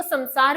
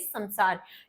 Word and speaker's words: संसार: तो इस संसार में बहुत अब मैं इसको संसार बोल रही हूं। संसार नहीं होता है। एक्चुअल प्रोनाउंसिएशन इज़ संसार क्योंकि सम उपसर्ग होता है।